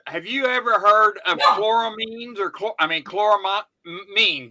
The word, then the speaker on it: chloramines: saying it quite right so I'm not sure chor mines is it chor mines is like chlorine but